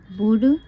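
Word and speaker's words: would: उसके बाद है ही बुड आप इसे बल्ड नहीं पढ़ेंगे इसको क्या पढ़ेंगे बुड तो क्या बल्ड सही है नहीं एल को नहीं लिखना सिर्फ बुड पढ़ना है क्या पढ़ना है बुड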